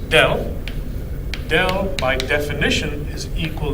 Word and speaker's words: del: the del operator acting on t where it's pronounced del del by definition is equal to correct so